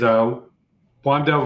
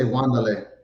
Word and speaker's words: Wan'Dale: So you another wide receiver is Wan'Dale Robinson.